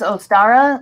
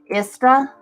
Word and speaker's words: Ostara: no actually it's um you can pronounce it as ostara or you can say isra okay that's where they